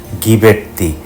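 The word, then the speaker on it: Ghiberti: নামের শেষের অংশে জি তারপর এইচ উচ্চারণটা গ, গিবের্তি, লোরেন্সো গিবের্তি।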